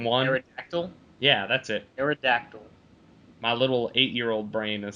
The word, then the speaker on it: Aerodactyl: like Eric or I can't say that one eract dial whatever from one Aerodactyl yeah that's it Aerodactyl my little 8-year-old brain is still trying to